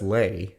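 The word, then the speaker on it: Leigh: I'm pretty sure that's Lay, not Lee. Lee. Lee is... Oh, L-E-I-G-H. Yeah, that's Lay. Okay, well, we pronounce it as Lee in this household.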